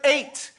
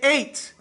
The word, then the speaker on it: eight: you write the word eight you say eight right but you don't pronounce the G or the H right or the I